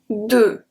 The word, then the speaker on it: deux: Deux. Deux. Deux. Means two. Deux. So we don't pronounce the X, so it's an open sound.